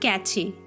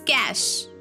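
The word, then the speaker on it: cache: one is catchy catchy it's not catchy it's cash it's cash i need to clear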